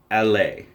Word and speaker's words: Aller: Now I know it's spelled A-L-L-E-R, which looks like Aller, however you want to say it, but it is pronounced L-A because it is a collaboration with French designers Patrick Famine and Eric de Mongevet.